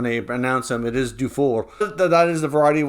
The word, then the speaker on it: Dufour: pick back in 2020 i know there's a variety of ways to pronounce his last name uh some might see it as do for and i do know people that are anglophone uh with that name and that's how they say it is due for but